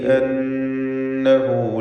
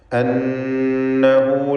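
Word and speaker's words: أنا: അപ്പോൾ വഖഫിൽ മാത്രമാണ് ആ അലിഫ് ഉണ്ടാവുക, ചേർത്ത് വായനയിൽ ആ അലിഫ് ഉച്ചാരണത്തിൽ ഉണ്ടാവുകയില്ല.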